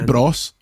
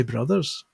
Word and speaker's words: Bros: going with different pronunciations the only one I draw a line at is Super Smash Bros and Super Mario Bros I you say Bross I would say Brothers okay am I wrong